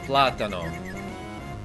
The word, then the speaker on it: plátano: In Spanish, it's pronounced plátano. Plátano with stress on the first syllable.